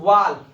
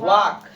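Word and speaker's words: walk: पढ़ तो पढ़िए इसको वाल्क है ना लेकिन वाल्क नहीं पढ़ा जाता है सर इसको पढ़ा क्या जाता है वाक वाक मतलब होता है टालना एल इसमें क्या होता है साइलेंट होता है क्या होता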